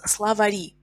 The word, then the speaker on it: словари: So in plural, we have to write e, and it becomes словари. Словари. Словарь. Словари. Словарь a is stressed. In plural, словари e is stressed.